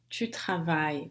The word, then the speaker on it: travailles: O S é a marca da conjugação da segunda pessoa do singular para esses verbos, né, que terminam em ER, mas ele não se pronuncia. Tu travailles. Eu não vou dizer tu travailles. O S não vai se pronunciar.